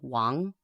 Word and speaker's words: Wang: most common last names, and it's Wang. That's the Chinese pronunciation, which is anglicized in lots of different spellings.